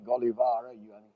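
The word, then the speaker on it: Gällivare: the great iron mines which i'll pronounce completely in the english way golivara something like that in swedish uh now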